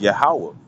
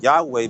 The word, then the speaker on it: Yahweh: Wa, and the Ha, which pronounced as Yahweh, you see, but they'll call it Yahweh because they know that most people are not going to do their research and stuff to check it out for themselves to see that